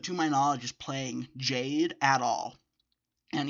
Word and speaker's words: JPDE: my knowledge, is playing Jade at all. And even though it's spelled JPDE, it's pronounced Jade, because it's a RWBY fan game.